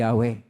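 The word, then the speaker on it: Yahweh: una sa kanyang pangalan ang pangalan ng Diyos ay mayon pong apat na titik yod he wab he y h na ang pag big p bigkas po diyan ay yahwe na atin pong makita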